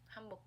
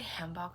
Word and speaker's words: hanbok: I feel like I say hanbok so American. I don't know why. Yeah, I'm American. You can tell. British or Australian, I would say hanbok, which is coincidentally how you say it.